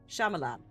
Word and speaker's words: Shyamalan: Shyamalan. The Y is silent.